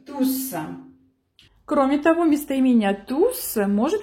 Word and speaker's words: tous: В данном случае мы, конечно же, будем читать крайнюю «с», произносить «с», «tous».